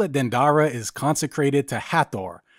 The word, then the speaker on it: Hathor: dandara is consecrated to hattor pronounced heter in egyptian meaning the house of